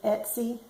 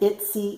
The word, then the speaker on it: Etsy: a bad habit of calling it YY and not Etsy so um I do know that's not the proper way to say it but YY sounds better